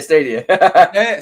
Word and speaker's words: Stadia: Yeah, Stadia.